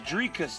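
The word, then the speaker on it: Dricus: name no I got it's drikas not driskus yeah it's Drake you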